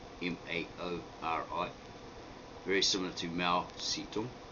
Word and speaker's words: Maori: similar to mao sito now in the pronunciation maori maori right you might visit and hear a lot of maori saying maori maori but that's a completely different spelling it's m-a-u-r-i and it means something quite different i've just like twisted